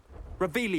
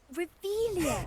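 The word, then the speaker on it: Revelio: Where are you, Ravilius? You're saying it wrong. Revellio Lumos, much better.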